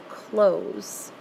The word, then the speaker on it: clothes: So that really follows the pattern of just adding an S on the end, but you don't hear the added syllable, so the sound is a little bit different from the rest of the words.